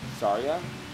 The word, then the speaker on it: Saria: So I keep saying Sarah. Her name's not Sarah. Her name is pronounced Saria. Is that how we say that?